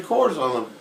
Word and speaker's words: Kohrs: Kohrs is not French. Is No, it- it's is it- German. Is it German? Kohrs is German? Yeah, it's more guttural. So I thought Kohrs came from Denver.